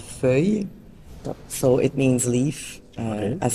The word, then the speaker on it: Feuille: the name so then the name is quite difficult to pronounce if you don't speak French it's called fui so it means Leaf